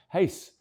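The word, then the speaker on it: Reis: young Brazilian center back whose second name is spelled R E I S, but pronounced Hace.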